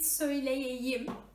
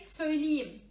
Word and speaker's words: söyleyeyim: Instead of saying as it is written, instead of saying it söyleyeyim, we omit y part, y and e sound, and we just say söyleyeyim. Okay? Söyleyeyim, not söyleyeyim, but söyleyeyim.